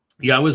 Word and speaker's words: Yahweh: Yahweh's name is Yahweh. That's how it's pronounced.